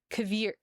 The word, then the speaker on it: Hver: And then HVER starts with a K sound. So that would be pronounced as Kavir. Kfir.